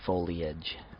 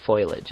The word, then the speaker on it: foliage: recently Fage I've always the e sound has always been a uh its own syllable for me foliage but I might have been saying it wrong all these years perhaps or some people say foilage and I think that's definitely wrong I think because that's